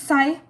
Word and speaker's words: Psi: The next is Psi, PSI. The P is silent.